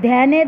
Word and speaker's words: ধ্যান: হচ্ছে, আকার যোগ হচ্ছে, যোগ হয়ে কি হয়ে যাচ্ছে, ধ্যা ধ্যা এ উচ্চারণ হচ্ছে।